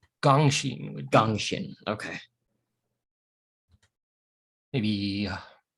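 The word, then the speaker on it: Gengxin: work exactly here but i like um gangshin uh as a name perhaps i think that's how you pronounce it g e n g x i n g-e-n-g seems weird gangshin with gangshin okay maybe for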